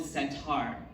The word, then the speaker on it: setar: It's called a setar. It sounds like Indian sitar, but it's spelled with an E instead of an I.